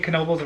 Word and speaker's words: Knoebels: And we're saying Knoebels. We're going to keep saying Knoebels because that's the correct way to say it.